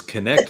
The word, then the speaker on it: Knecht: It's connect like connect the dots, and you've said it right every time.